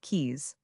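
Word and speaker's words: Caius: Caes founded the college named after him and popularly pronounced keys on the basis of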